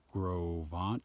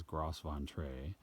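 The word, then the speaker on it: Gros Ventre: And my first night I'm staying at the Groveon campground. It says Groveon, but it's pronounced Groveon.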